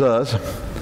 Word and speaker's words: Uz: There was a man in the land of Uz. And it wasn't Oz, it was Uz.